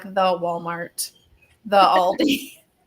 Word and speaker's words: Aldi: months I do love Aldi I always pronounced it with an S growing up I don't know why it just felt like I don't know Aldi's sounded better than just one Aldi that's like my mom